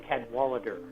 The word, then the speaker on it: Cadwallader: cadwalter hope I'm saying that right let's see is that how you say your name is that how you say it very very close Cadwallader 10 Walter Walter there's an x-ray in there